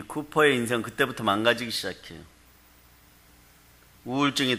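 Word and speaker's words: Cowper: 윌리엄 카우퍼라는 분이 작사했어요. 네, 근데 쿠퍼 이렇게 발음했습니다.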